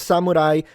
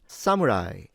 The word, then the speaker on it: samurai: It's not pronounced samurai samurai. Having established that and for advanced learners let us jump into pitch accent. This is a zero pattern so heiban pattern which is the so-called flat pitch in Japanese or accentless words. So we start low sa You can see this is low sa and then we go high mu ra i So these stay high.